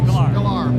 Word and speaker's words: Sklar: Sklar, because everybody tells me a different pronunciation of his name.